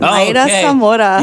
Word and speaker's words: Mayra Zamora: I got the one, the beautiful and talented Miss Mayra Zamora right here in the building. Oh, did I pronounce that right? You got it. Mayra Zamora.